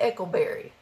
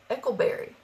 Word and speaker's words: Eckelberry: can't imagine how else how else do you say Eckelberry it's like huckleberry you know Eckelberry well i'm glad i